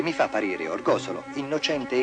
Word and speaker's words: Orgosolo: buoni e i cattivi Orgosolo un nome che in Italia si pronuncia sempre Orgosolo fatto sintomatico che denuncia una differenza profonda di linguaggio e che spiega Tante incomprensioni fino a che si continuerà a dire Orgosolo Orgosolo continuerà ad essere uno